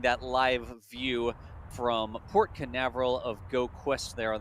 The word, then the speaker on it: Canaveral: occurs for that occurs in Port Canaveral is the right way to say that also if you head